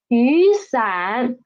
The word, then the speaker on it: 雨伞: 雨 so it becomes 雨伞 read after me 雨伞 Last one try to read it by yourself